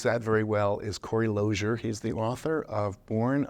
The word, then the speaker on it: Losier: And so it was always pronounced Losier. But you can't tell anybody that because, well, it's spelled like loser. So when I got out